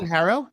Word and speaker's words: HARO: Um do you pronounce it Haro or Harrow? Harrow.